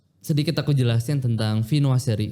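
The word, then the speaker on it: viennoiserie: Ee e sedikit aku jelasin tentang vinoa seri. Dibacanya Vinoa. Vinoa seri.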